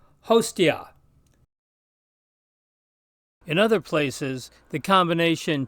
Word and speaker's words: hostia: followed by a consonant it sounds like the ti in patio so this word which means a sacrificial victim is pronounced hostia in other places the